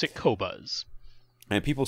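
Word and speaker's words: Qobuz: then he just heard about title and queue pronounce it kobas and people saying overall they sound better did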